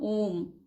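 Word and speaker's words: Om: They heard a sound, वे सुने एक आवाज, ठीक है, हियर्ड यानी सुने, सुनो, तो उन्होंने एक आवाज सुनी, AUM, तो इसका होगा ओम, तो उन्होंने ओम की आवाज सुनी।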